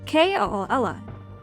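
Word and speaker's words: Caol Ila: This distillery is pronounced “KAY-all-all-ELLA.”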